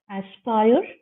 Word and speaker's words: aspire: Okay, now if you see the words here: aspire, sport, tire, fort. Aspire is rhyming with attire, and sport is rhyming with fort.